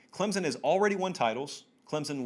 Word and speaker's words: Clemson: Clemson with an S, of course, even though I pronounce the Z.